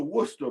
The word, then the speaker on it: Worcester: It's pron it's pronounced Worcester. It's spelled Wes Ser. It's one of those weird English pronunciations.